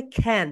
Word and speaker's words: can: আমরা সবাই বলি কি বলতো? ক্যান you give me a paper? ক্যান you talk to you? Right pronunciation হবে খ্যান।